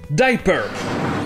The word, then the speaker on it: diaper: Ici déjà le I se prononce I et le A est muet, ce qui donne donc diaper.